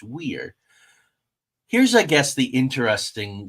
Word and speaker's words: Weiher: Ted's is a little difficult. I went out and made sure to get that right. Weiher, but it's Weir.